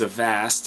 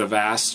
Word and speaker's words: avast: um best antivirus out there right now is avast and that's spelled as an apple v as in victory